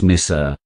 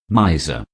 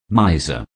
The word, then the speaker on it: miser: american pronunciation number eight miser this word is often mispronounced because of the pronunciation of the word miss and said as mr say this word thrice with me miser miser paradigm a tricky word